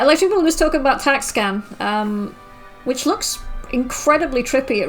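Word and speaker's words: Tac/Scan: The slash is silent. Okay, so it's TAC-SCAN.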